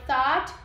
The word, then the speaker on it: thought: I thought, com a língua entre os dentes pra pronunciar o som do TH, that we were just having fun.